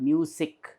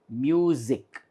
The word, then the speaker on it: music: music it is not music it is music and here also by